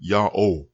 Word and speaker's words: Yahweh: But the pronunciation Yahweh is attested repeatedly over thousands of years from the 14th century BCE and forward.